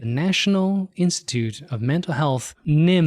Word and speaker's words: NIMH: Institute of Mental Health, NIMH. The H is silent.